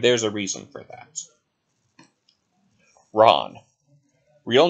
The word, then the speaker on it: Ran: name is spelled ran r-a-n but it's actually pronounced wrong and there's a reason for that ron real name no length 15 feet to 300